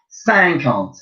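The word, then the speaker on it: cinquante: and you just fit a you ance idiot sang can't see i n qu a n te sang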